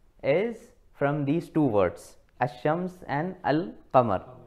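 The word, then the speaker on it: الشمس: from these two words ashrams and Al pamar right so in assam's the lamb is not pronounced the name is not pronounced or red it is directly ashrams this way right and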